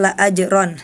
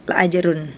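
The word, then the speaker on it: لَأَجْرًا: Wa inna laka laajron. Nah tadi Hana salah harakat harusnya la ajron tapi Hana tadi la ajrun dibacanya ya.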